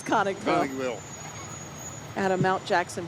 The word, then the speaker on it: Conicville: going to have to help me with the pronunciation of this one conicville conicville yep conicville Chand County y now the reason